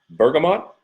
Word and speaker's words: bergamot: Bergamot or bergamot, depending on how you want to pronounce it, and citrus fresh.